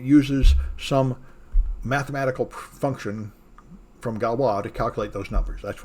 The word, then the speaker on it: Galois: is galwa counter mode i used to call this galois so i finally decided today i'm going to look it up and stop being an ugly american they can't pronounce anything it's french you're supposed to call it galwa they say so anyway